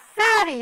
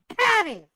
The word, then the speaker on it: Patty: I said fatty not fatty I'm not fatty Mrs Fatty it's Mrs Patty with a p I said Patty you